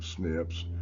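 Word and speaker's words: SNP: uh and the single nucleotide snips pronounced uh snips our most common type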